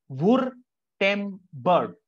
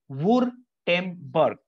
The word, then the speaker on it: Württemberg: It's not Gutenberg. It's called Württemberg. Once again, Württemberg.